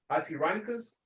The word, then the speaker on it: Oxyrhynchus: chapter 15, verse 57 through 59, found at Oxyrhynchus, that's how you say it, Oxyrhynchus, Egypt, indicates that the book was composed in Greek.